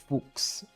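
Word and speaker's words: Fuchs: coach here in Brazil which his name was Argel Fox. literally f u c ks and he had to change his name to f u c hs cuz he's and it's pronounced fuks but it was spelled like fox so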